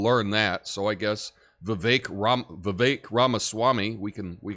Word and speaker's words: Vivek: in your life because it's spelled vivec but I've heard your name said is Vivek it's a little tough for people but you know what